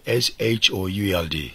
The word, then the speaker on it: should: this means could you the L is silent so also w o u l d would so also s h o u l d should could you please give